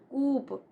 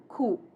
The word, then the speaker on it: coup: It is not coop, but coup. P is silent.